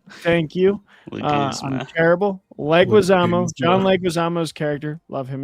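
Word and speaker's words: Leguizamo: Like um is it legma? I'm so bad with names. Leguisamo. Leguisamo. Thank you. Terrible. Leguisamo.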